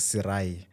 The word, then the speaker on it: Sirayi: You can pronounce it as Sirai.